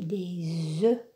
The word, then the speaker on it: des œufs: F se prononce mais au pluriel on dit des œufs le F ne se prononce pas le du pluriel non